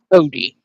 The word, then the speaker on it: Cody: And that pronunciation is Cody. Cody, got it.